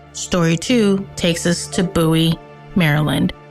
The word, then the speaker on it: Bowie: Story two takes us to Bowie, Maryland. That's Bowie, not Bowie. You're not naming a dog.